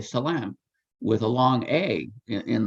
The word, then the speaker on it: salam: That's why in Hebrew you say shalom, that O in the second syllable. In Arabic and other Semitic languages you say salam, with a long A in the second syllable.